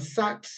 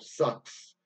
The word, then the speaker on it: Sax: maker I think Adolphe Adolphe Sax or sucks maybe probably be the correct pronunciation so that the saxophone